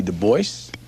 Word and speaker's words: Du Bois: black David Levering Lewis W.E.B Du Bois yes he always insisted on that pronunciation uh he did not like the Gaelic pronunciation though in his antecedence he was partly French look at this nigga's